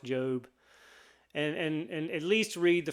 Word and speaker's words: Job: It is pronounced Job.